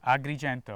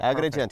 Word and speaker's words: Agrigento: We're in Agrigento. Did I pronounce that right? Agrigento. Agrigento.